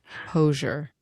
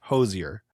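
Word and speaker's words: Hozier: Hosure. No, I I'm I'm pretty sure it's Hosier.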